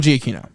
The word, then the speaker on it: Giacchino: Giacchino. Michael Giacchino.